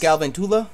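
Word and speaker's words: Galvantula: It's pronounced Galventula. Thank you. You look like a Gavin Tula.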